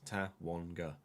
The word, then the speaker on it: Tawanga: Tawanga's name is spelt how it sounds. Tawanga.